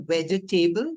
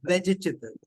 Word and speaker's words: vegetable: So sentences, and it's not vegetable, but it's vegetable. It will be TIBLE as the pronunciation.